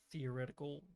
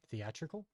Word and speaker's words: theatrical: Yeah, they really wanted the theoretical release first, obviously. Theatrical? Is that how you pronounce it? Mm-hmm. Theoretical means in theory.